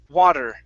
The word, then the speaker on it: water: okay one more time use a d sound here in the middle in the middle instead of voila it's wad water water water there you